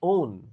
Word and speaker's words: own: Oke, values match my own. Nah, ini juga susah pengucapannya. Cara bacanya adalah EUN. Own. EU, bukan O, bukan on. Tapi own.